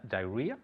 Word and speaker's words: diarrhea: Diarrhea. Diarrhea. Good. Diarrhea. It's spelled rather in a strange way, but it's pronounced diarrhea.